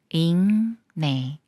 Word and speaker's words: 읽네: 리을 기억 받침 중에 리얼은 생각 말고 기억과 니은이 만나는 거라서 기억을 이응 소리로 읽어요 잉네 잉네 기억 받침이 미음을 만나면